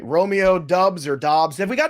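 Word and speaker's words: Doubs: off the waiver wire guarantee all right romeo dubs or dobbs have we got enough ruling on this yet have we gotten ruling on the dubs it is dubs right all right so just want to be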